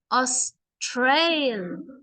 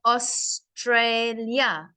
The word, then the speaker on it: Australia: I push the middle so when there when there's three syllables or a longer word you know Australia that has three syllables think of it as three sounds Australia yeah I can stop at each sound us Trail yeah so when I have three sounds I must push my voice in the middle but if